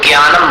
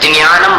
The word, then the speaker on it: ज्ञानम: फिर बता दे ज्ञानम अब देखिए ये पहला जो अक्षर है इसको हिंदी भाषी लोग ज्ञानम बोलते हैं मराठी लोग ज्ञानम बोलते हैं द से शुरू करके बोलते हैं ज्ञानम गुजराती लोग ज्ञानम ज्ञान बोलते हैं ज्ञ से शुरू करते हैं और आगे ना जोड़कर